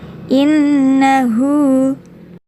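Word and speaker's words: إنه: saja Inhu kena tauwaba Inna terdapat Nun bertasydid jadi cara membacanya rangkap ditekan dan disertai dengan dengung innahu Kana Hai Kak Fatah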